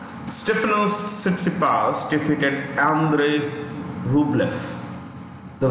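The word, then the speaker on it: Rublev: sitsi pass defeated andre rublef the v in the end of this this one here is pronounced with an f okay andrea luke left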